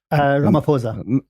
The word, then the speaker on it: Ramaphosa: How do you pronounce the South African premier's name? Ramaphosa.